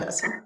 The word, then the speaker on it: Assam: Am I pronouncing that right? Assam?